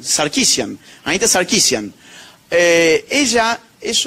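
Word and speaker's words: Sarkeesian: Y en Canadá tenemos un caso que es fabuloso, que es el de Anita Saresian, que siempre me lo corrigen. ¿Alguien alguien sabe cómo cómo se cómo se pronuncia bien? Eh, Sarquisian. Sarquisian.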